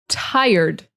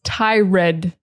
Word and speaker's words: tired: A lot of people see this word and they think it's tired, but it is tired. So I want you to say this. I want you to say tie, and then I want you to say erd, not red, erd, It's just an ER, erd, tie, erd.